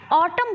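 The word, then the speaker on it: autumn: है ठीक है कुछ ऐसे शब्द हैं जिम एन साइलेंट होता है जिसमें से मोस्ट इंपॉर्टेंट है कलम कलम बहुत बहुत डीएलएड में पूछा गया है ठीक है तो ऐसे शब्द में एन लैटरल साइलेंट होता है वो क्या होते हैं अछाम ऑटम बोलते हैं लेकिन लिखने क्या है ऑटम लिखने हैं ठीक है कलम कलम बोलते हैं लिखे लिखने क्या है कलम में बोलते हैं दम बोलते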